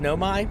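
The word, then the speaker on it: Nomai: It's pronounced Nomi.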